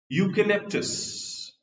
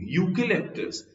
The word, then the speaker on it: eucalyptus: Eucalyptus. Although it begins with a vowel letter, but the pronunciation is U, eucalyptus.